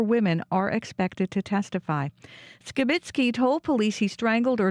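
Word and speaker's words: Skibicki: through the court proceedings Jeremy skitzki pronounces his name as skitzki and we will now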